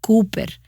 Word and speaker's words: Cowper: poeta william cooper ahora el nombre se pronuncia cooper pero no lo sabrías con solo mirar cómo se escribe esta es la forma en